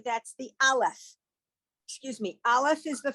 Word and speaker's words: aleph: Okay, the aleph is silent, so all you need to do is to look for the vowel and you're good.